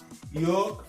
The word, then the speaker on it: yolk: On ne va pas prononcer elles dans talk, almond, salmon, palm, yolk, balm, walk and shark.